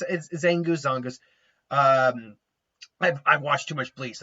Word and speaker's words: Zangoose: It's Zangoose. I've watched too much Bleach. I pronounce the Zang as a Zon because it's not Zangetsu, it's Zongetsu. But no, it's Zangoose. No, but in all seriousness, Zangoose is Zangoose makes sense.